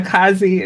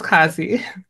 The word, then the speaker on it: Kazi: I'm pronouncing it correctly it doesn't rhyme with Nazi H kazy yeah no it's not Kazi it's just kazy most people think that